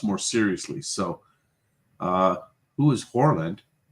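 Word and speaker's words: Haaland: So, who is Horland? That's how you pronounce it in Norwegian.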